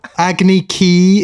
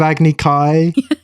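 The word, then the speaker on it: Agni Kai: Agy Ki instead of Agny Kai.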